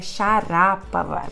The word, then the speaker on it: Sharapova: por exemplo a Maria Sharapova também vou contar um segredinho para vocês que a pronúncia certa É xará para lá mas enfim Maria Sharapova o